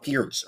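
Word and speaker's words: Pirc: the weakness on D6 this gives me the perk Vibes or Pierce for especially very much like oh it's pronounced Pierce right but of course perk or Pierce is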